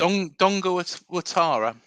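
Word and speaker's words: Dango Ouattara: Dongo Watara. Dongo Watara. Watara. Yeah. It's said with a W.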